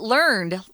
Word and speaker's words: learned: more and more um learned instructors but we'll also use this um as an adjective uh and we'll pronounce it learned for example learned behaviors